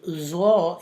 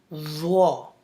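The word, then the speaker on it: ظ: So zo is a heavy letter, but it is a soft letter also, which pronounced from the tip of your tongue and up to 2 teeth beginning. Zo.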